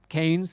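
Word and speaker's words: Keynes: Milton kees but he his name is pronounced kanes even though the town is named after him uh so so canes in 1930 uh said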